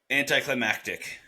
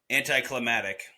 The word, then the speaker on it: anticlimactic: Anticlimactic. But I bet I know how she says it. Go ahead. Anticlimatic.